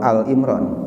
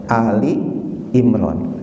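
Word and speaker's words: آل عمران: Bacanya kadang-kadang ada yang baca surah Al Imran, itu salah ya. Jadi yang benar adalah Ali Imran.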